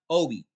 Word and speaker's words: Obey: I want to spotlight an author named Tatiana Obi. Her last name is spelled O-B-E-Y, like obey, but it's pronounced Obi.